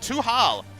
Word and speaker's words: Tuhal: But we have Tal on the team. Tuhal is the correct pronunciation.